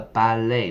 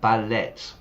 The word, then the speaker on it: ballet: The ballet, not ballet.